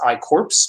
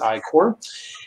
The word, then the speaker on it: I-Corps: so it's spelled pronounced i corpse but it's actually pronounced as i core and it's an nsf